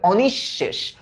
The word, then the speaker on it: অনিঃশেষ: বিসর্গ যদি মাঝখানে বসে, তো বিসর্গর প্রভাবে পরের যে ধ্বনিটা আছে এটা ডাবল হয়ে যায়, এটা দ্বিত্ব হয়ে যায়। তাহলে এটার উচ্চারণ কি হবে? অনিঃশেষ, অনিঃশেষ।